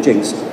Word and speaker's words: Jenks: district called jinkx touchy spell geniux but it's pronounced jinxed just so you know Hector over there they